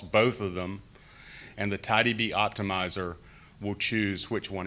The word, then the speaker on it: TiDB: it's important to know tidy b is not mysql tidyb rhymes with mysql so they're similar for